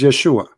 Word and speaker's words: Yeshua: is not I say his name is Yeshua Yeshua in which language in the Hebrew and you're saying your